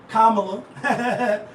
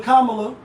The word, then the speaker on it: Kamala: black oh but black calling a Kamala and not Kamala right or vice versa because it's an Indian name it's not a black name so we we pronouncing